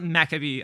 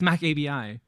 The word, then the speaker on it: macabi: I have no idea so it's not maab I said it wrong on purpose to be funny it's Mac ABI does that help a